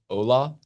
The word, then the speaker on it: hola: Holla back. I believe that's pronounced Ola.